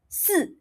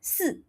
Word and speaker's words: si: So SI is pronounced as 四. Your tongue will be in front. 四, 四, below your teeth.